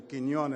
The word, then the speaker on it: Quiñones: at a Latino scholarship dinner would someone say Kon is the way it should be pronounced I've been called everything else the other